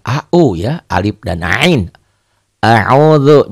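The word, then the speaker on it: أعوذ بالله: A'udzu, jangan a'uju, jangan a'udu ya. A'udzu antara keras dan rapuh.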